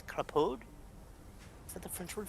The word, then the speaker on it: Crapaud: Basically, Crapaude, but it's Crapaud.